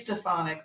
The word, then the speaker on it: Stefanik: least at least a phonic Quest sorry Elise stefanik thank you so much feel free to correct